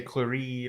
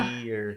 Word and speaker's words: Clarity: some people will say Claride or Yeah. Clarity Yeah. I get and that a lot. so it's pronounced as if you were just saying Clarity.